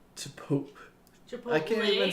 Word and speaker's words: Chipotle: say Chipotle, Chipotle.